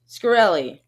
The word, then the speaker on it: Shkreli: Shkreli.